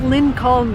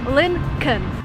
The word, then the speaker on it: Lincoln: attention to what I'm saying here is not Lynne calm the way it's written there is an L before n when you actually pronounce it you say Lincoln the second thing you have this car